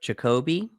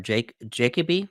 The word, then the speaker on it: Jacobi: We have Derek Jacobi, or Jacoby, I've heard it pronounced both ways, as Senator Gracchus.